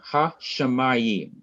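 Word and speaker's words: השמים: There is an accent mark under the third syllable. What does that mean that we should do to this third syllable? We need to emphasize it, to stress it. Yes, Raise our sir. voice, slow down when we come to that syllable.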